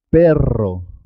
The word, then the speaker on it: perro: Por ejemplo, cuando se escribe doble, dos R's, siempre suena doble. Carro. Carro. Es importante marcar la R. Perro.